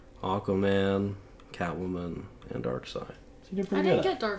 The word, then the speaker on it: Darkseid: That's Darkseid. That's not how side is spelled.